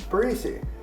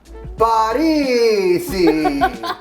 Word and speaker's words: Parisi: And I was like, "Paresi." And he goes, "Huh?" I go, "Paresi." He goes, "Huh?" Paresi. And he goes, "Oh, Parisi." So I was saying it wrong the whole time.